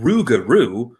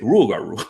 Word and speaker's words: rougarou: it sound easier like instead of pronouncing ruguru it's rule rule because you can just